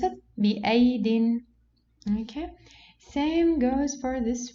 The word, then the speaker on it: بأيد: Here we have two ya. Okay, so do we pronounce it بأيد? No, since here we have rounded zero, so this ya is cancelled. So how we pronounce it? بأيد.